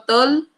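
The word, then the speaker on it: Toll: a este receptor tipo TOL, y TOL se escribe T-O-L-L.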